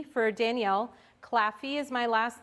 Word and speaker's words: Claffey: my email address is uh d for danielle claffy is my last name it's spelled c l a f is in frank